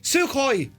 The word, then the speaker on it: Sukhoi: Gibbo, I'll pronounce this one. Sukhoi.